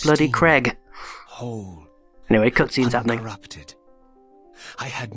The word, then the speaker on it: Craig: not word, the name, Craig. C-R-A-I-G. Craig. Now you notice A and I make an A sound, not an E sound. It is not bloody Craig.